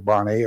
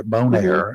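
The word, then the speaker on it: Bonaire: I I went to Bonnie bone air is the way it's pronounced I found out after all these years uh I went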